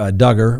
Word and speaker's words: Duggar: to statements that josh duggar rhymes with hugger made to federal agents